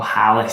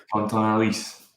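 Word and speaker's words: Quentin Halys: Oh, Hallis. Sorry, Hallis. Yeah, again. H is silent, Jack. H is silent. Yeah, sorry. Is that Alice? Yeah, I mean, it's French, so H is silent. Quentin Alice.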